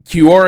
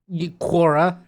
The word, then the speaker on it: Quora: all heard it uh Kor is not a pronunciation I've heard of for for that website usually just but it's it's a it's sort of a madeup like quora is what I think quum like we like